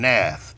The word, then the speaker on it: Nath: Somebody named Nath. I believe that's his name. It looks like you would pronounce it the same way you spell math, like mathematics, but replace the M with the N.